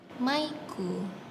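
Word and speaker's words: マイク: Contohnya ini bacanya adalah maiku atau Mike. Mike, nama orang ya, Mike. Jadinya maiku kalau di bahasa Jepang.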